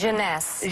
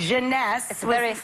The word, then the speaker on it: Jeunesse: ageless what's the company how do you pronounce this janess janess maker and it's less